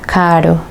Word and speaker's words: caro: Por ejemplo, en la palabra caro.